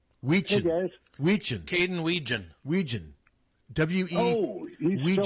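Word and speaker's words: Wetjen: Caden Weegen. Weegen. W-E. Oh, he's Weegen. still around? Yeah. T-J-E-N, I believe. Yep. It's spelled Wetgen, but it's pronounced Weegen.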